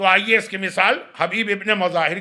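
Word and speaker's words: مظاهر: इनके बाप का नाम है मुजाहिर। हमारे यहां मजाहिर पढ़ा जाता है। चले वो तो एक प्रोनाउंसिएशन का फर्क है।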